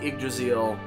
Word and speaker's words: Yggdrasil: Technically, it's pronounced the Yggdrasil, but I keep wanting to pronounce it just the Draziel.